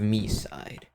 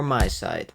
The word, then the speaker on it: MiSide: Okay, I'm sure you've heard of me side or my side. It's spelled me side, but I kind of think it's supposed to be my side, but every single big